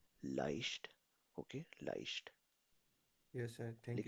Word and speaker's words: leicht: अगर तो कॉम्बिनेशन में ई पहले हो और आई बाद में हो तो इसको प्रोनाउंस किया जाता है हमेशा आई से. ओके, आई से. zum Beispiel leicht.